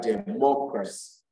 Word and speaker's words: democracy: y and a l you place the stress on this little salt from the end at least from the end you can three syllables backwards from the end you count one two three backward that third syllable from the end is what is stress so we have democracy